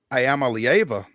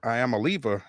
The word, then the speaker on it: Iamaleava: Here comes Nico Iamaleava, or Iamaleava, as some folks want to pronounce it these days.